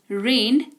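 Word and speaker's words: read: पढ़ना रीड रेड रेड यह एकदम अलग है स्पेलिंग तीनों की सेम उच्चारण के वजह से ये डिसाइड होता है कि v2 में है कि v3 में कि v1 में ठीक है रीड रेड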